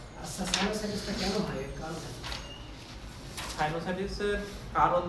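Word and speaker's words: sinusitis: related না যেটা সাইনোসাইটিস এই উচ্চারণটা কি সাইনোসাইটি নাকি সাইনোসাইটিসিস এবং সাইনোসাইটিস লাস্টে হচ্ছে আইটি এস আছে আই টি এস এইটা থাকলে আমরা ইনফ্লামেশন বলব সাইনো এস আই টি এস সাইনোসাইটিস আচ্ছা সাইনোসাইটিসটা কেন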